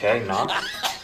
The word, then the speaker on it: knock: spell the word knock knock no there's a k you don't see how just because you can't hear the K doesn't mean it's not there spell it with a